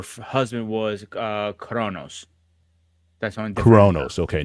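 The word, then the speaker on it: Cronus: that uh her husband was uh coronos that's coronos okay not not Uranus yes that's correct I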